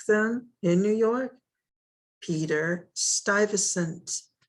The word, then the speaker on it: Stuyvesant: in new york peter stuyvesant notice how it's spelled very different than it sounds peter stuyvesant and the fort that